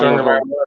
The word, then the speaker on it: Tagovailoa: off with Miami with their pick of Tua Tagovailoa, or how you want to pronounce his name, Tagovailoa or Oh, Tua Wailoa. Tagovailoa.